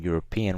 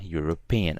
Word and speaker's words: European: more time because uh European now check this out there's an e but we don't pronounce the e when saying European we pronounce the you so although there's a